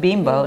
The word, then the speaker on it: Bimbo: a ten billion dollar company bimbeau actually it's pronounced bimbo not involve Tsarevich or asada he's a physician